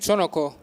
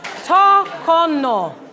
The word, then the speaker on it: Tokono: Your syllables were in the wrong place. Tokono, not to-no-ko.